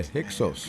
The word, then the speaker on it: Hyksos: Somebody said, did I pronounce Hiscos right? Yeah, Hyksos.